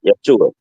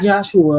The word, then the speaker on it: Yeshua: Yeshua. Yeshua. No, not Joshua.